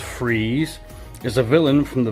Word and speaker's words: Fries: a disability man so Victor Fries pronounced freeze is a villain from